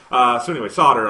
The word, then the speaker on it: solder: Yeah, it's spelled different than it's pronounced. It's right, okay. It's a word you read a lot more often than you say. Yeah, that's what I meant. Anyway, solder.